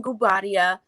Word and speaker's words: Guobadia: this simon gubaria we finally got the proper pronunciation of the name the simon gubatia and um fallon bubaria separation pending their divorce